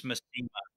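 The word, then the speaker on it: Masema: It's Massima. Oh, Yeah. what have I been saying? Massima. The pronunciation guy is I think Massima.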